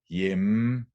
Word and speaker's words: hjemme: So what actually happens is that the final E is not pronounced, but the M is prolonged, and thus hjemme becomes hjemme in one syllable, and samme becomes samme in one syllable.